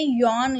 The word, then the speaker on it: Jan: अच्छा, एक चीज़ यहाँ पे याद रखने वाली है कि ये जो वर्ड है ये जॉन या जेन नहीं है, ये यॉन इसको प्रोनाउंस करेंगे वाई से।